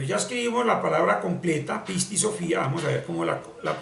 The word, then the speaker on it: Pisti Sophía: misma cosa o sea la palabra pisti Sofía se pronuncia pisti Sofía pisti Sofía con tilde en la i y debemos eluir un